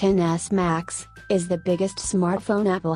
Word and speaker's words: XS Max: this iPhone XS max pronounced NS max is the biggest smartphone